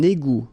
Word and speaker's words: égout: Okay, little link between the two. Un égout. Final T not pronounced.